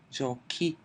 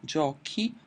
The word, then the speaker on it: giochi: I do want to keep the pronunciation hard so I have to add an 'H' in the 'tu' and the 'noi' form: giochi, paghi; giochiamo, paghiamo. -ere verbs have less trouble,